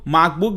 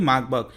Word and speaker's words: Marburg: है जिसका नाम है मार्बर्ग, और जर्मनी में इसको, जर्मन लैंग्वेज में इसको मार्बर्ग भी कहा जाता है, लेकिन हम इसको सिंपल में प्रोनाउंस करेंगे मार्बर्ग।